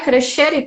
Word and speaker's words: Crescere: Crescere Toscana? Me fala a pronúncia.